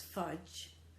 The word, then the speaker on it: fudge: And although I'm sure you still recognise that as fudge, remember the D is silent, really when you're joining G, to show that it's a G, you need that hook always visible.